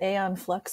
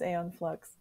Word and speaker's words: Aeon Flux: picturing for this is Aeon Flux am I pronouncing that wrong is it Eon flux I'm like am I one of those I did it right it just feels